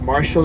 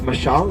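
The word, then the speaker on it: Mashal: Um, a lot of people ask me if my name is Marshall or Michelle. My name is Michelle. It's spelled M A S H A L.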